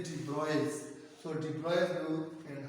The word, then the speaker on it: de Broglie: This is, डियर student, this is नॉट डी ब्रॉगली, this is pronounced as डी ब्रॉयस।